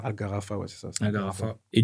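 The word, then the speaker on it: Al-Gharafa: Euh et rappelle-nous déjà ça se prononce comment le club où tu as le premier club où ? C'était Algarafa. Algarfa.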